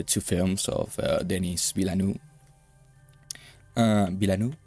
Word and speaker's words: Villeneuve: Villeneuve, yeah, I think it's pronounced like that.